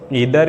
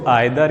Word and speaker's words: either: दरअसल क्या होता है ना कि ये जो ईदर या नीदर जो है इसको आइदर या नाइदर भी कहते हैं ना। दोनों मतलब जो जिस तरह से आप जो आपकी ज़बान पर बेहतर रहे, जो प्रोनाउंसिएशन होता है ना, जैसे उच्चारण आप कह सकते हैं, इसमें दोनों सही हैं।